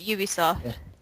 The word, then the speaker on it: Ubisoft: How do you pronounce that company's name? It's Ubisoft. Yeah. Ubisoft, released 2006.